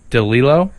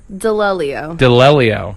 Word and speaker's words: d'Alelio: So can you pronounce it? DeLillo? Delelio. Yes.